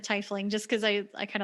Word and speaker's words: tiefling: flings too and yes we know that people say tiefling but i like how tifling sounds funny sounds weird i always pronounce it yeah t-fling makes me think of tea like somebody is like it's sweet sounding yeah i've always just said tiffling just because i i